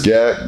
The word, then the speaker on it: G@k: And, yeah, it's Gak. Yeah, like Maxwell with a G, G-A-K.